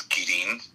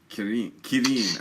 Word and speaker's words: Quirin: The actual, I'll tell you, the actual correct pronunciation, which no one ever gets, is Quirin. Quirin. Okay. Quirin, All right. which is it's a Spanish last name, but everyone in the